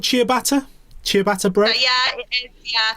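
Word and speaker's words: ciabatta: to get my answers so yeah did i pronounce that bread thing right is it called chia bata chia bata bread yeah yeah that is right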